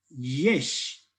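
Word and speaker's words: יש: Diría algo así, yesh, no como el yes en inglés, sino como el yesh, ¿sí?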